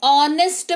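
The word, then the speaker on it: honest: तो ऑनेस्ट पढ़ेंगे।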